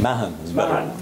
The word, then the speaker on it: Mahon: Is that the correct pronunciation? Mahon.